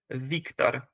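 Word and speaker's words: Wiktor: it like the Germans the German W was actually pronounced as a V and that's why I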